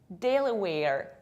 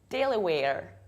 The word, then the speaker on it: Delaware: Delaware, two very front A, Delaware.